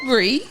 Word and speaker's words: Bri: Hey guys, my name is Bree.